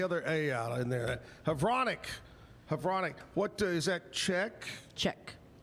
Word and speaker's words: Havranek: Havranek. Havranek.